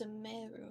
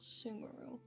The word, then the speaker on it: Sumeru: characters wow oops oh it's samaro not sumero I'm stupid I can't believe I've been pronouncing that wrong this entire time that's so embarrassing beep